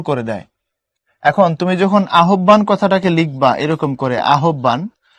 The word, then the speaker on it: আহ্বান: এখন তুমি যেহেতু হসন্ত দিয়ে দিছো, পড়তে হবে আহ্বান, এটা গিয়ে আটকে যাবে আহ্বান। সো উচ্চারণের ক্ষেত্রে হসন্তর ভূমিকা অনেক বেশি।